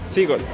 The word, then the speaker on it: Seagull: Para no pronunciar mal, ¿cómo pronuncias vos esto? Seagull.